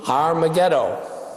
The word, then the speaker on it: Har Megiddo: valley near Megiddo and you would pronounce that in Hebrew har Megiddo also known as Armageddon